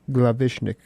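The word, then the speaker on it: Glawischnig: Dieter Glavishnik. And the W is just like a V pronounced, and you'll be okay.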